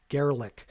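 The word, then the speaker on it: Garelick: I think it's pronounced G-A-R-E-L-I-C-K, Gerlick.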